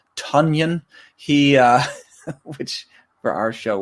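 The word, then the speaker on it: Tonyan: Tanyan, who I believe we've been mispronouncing, is Tunyon.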